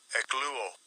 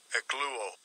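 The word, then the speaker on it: ἐκλύω: In the Strong's G, the pronunciation. Strong's G, 1590, ekluo, ekluo.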